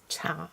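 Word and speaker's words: 茶: which isn't too far away from the Cantonese pronunciation for tea, which is cha.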